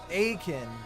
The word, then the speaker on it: Aitken: Common mispronounced Aitken. Wow. Actual pronouncing Aiken.